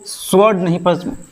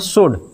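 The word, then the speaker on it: sword: इसको आंसर नहीं answer W silent होता है। ठीक है? इसको स्वर्ड नहीं पढ़ते हैं। एस डब्ल्यू ओ आर डी मतलब तलवार इसको स्वर्ड नहीं पढ़ते हैं। इसको पढ़ते हैं स्वड।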